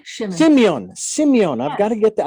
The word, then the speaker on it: Symeon: Now, It's not- you may correct me if I ever mispronounce, but it's Simon Shimin. Symeon Shimin. Simeon.